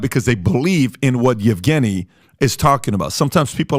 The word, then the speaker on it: Yevgeny: Number one, the guy behind Wagner Group is a guy named, I want to pronounce this correctly, Yevgeny Prigozhin.